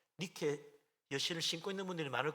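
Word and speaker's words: Nike: 그래서 니케가, 여러분들 막 니케 여신을 신고 있는 분들이 많을 거예요. 나이키 신, 나이키가 니케입니다. 니케 영어 발음 나이키인데, 그 승리의 신발을 신고 운동에서 승리하라고 나이키 신발이 나온 거예요.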